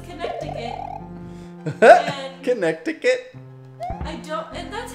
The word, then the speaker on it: Connecticut: She says Connecticut. Connecticut? I don't, and that's how it's spelled, I think, right? Connect, yeah. Bum, bum. But C-O-N. It doesn't sound like that when you say it.